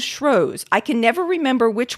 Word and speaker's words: Shrewsbury: also said for Shrewsbury some people pronounce it shrews some people use shrews I can never remember